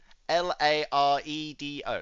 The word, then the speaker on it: Laredo: This says Lardo, right? Can you see that? Laredo. Sorry, Lardio. Is that better? Is that better for you? Sorry. Oh dear. Laredo. That doesn't say Laredo.